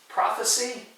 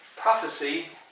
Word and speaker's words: prophecy: selves incorrectly and our last one number seven prophecy and prophesy you can notice there's just a little difference in pronunciation not much prophecy with the sea is a man and that